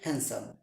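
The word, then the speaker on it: handsome: Next word চলে যাচ্ছি আমরা, আমরা অনেকেই বলে থাকি হ্যান্ডসাম, এখানে ডি উজ্জ থাকবে। অনেকেই বলি তোর বিএফ অনেক হ্যান্ডসাম, সেই ক্ষেত্রে ডি উজ্জ থাকবে হ্যান্ডসাম, হ্যান্ডসাম।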